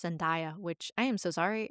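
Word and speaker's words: Zendaya: And that's the one with Tom Holland and Jake Gyllenhaal and Zenaia. And I think I've been pronouncing her name wrong. I think it's Zenia, which I am so sorry.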